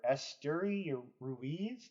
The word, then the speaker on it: Esteury Ruiz: Outfielder Esteury Ruiz, I believe is how you say it.